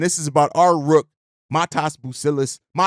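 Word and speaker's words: Matas: is about our rook, Matss Buzelies. You don't pronounce the T as a T.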